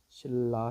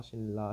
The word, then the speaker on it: 신라: 신라 신라 신라 신라. 우리 발음 발음은 이렇게 표시하죠.